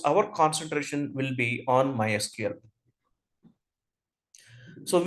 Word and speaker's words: MySQL: concentration will be on MySQL so we'll pronounce MySQL as my SQL it's not MySQL and MySQL is used